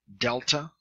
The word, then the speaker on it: delta: G as in gut Delta D as in desk epsilon R epsilon a